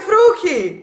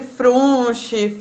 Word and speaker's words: Fruchi: Eu falei Fruc, é isso? Fruc, é Fruc! Nossa, Ah, arrasei! o que eu já fui chamada de Frunche, Fruche.